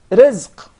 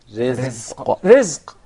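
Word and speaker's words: رزق: Rizq. Rizq. I don't want you to forget, we're actually aiming at the Zay.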